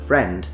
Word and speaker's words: friend: And that's the same in, for example, the word friend. You don't say friend.